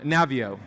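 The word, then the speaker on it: Naviaux: in your body robert navoo i hope i'm saying his last name right he has great research on navio is how you say it he's has great research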